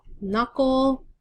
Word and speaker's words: knuckle: Knuckle. There's the K you can't hear. Or you don't say.